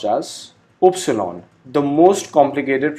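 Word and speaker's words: Ypsilon: Y alphabet is pronounced as Upsilon, the most complicated pronunciation of German alphabet.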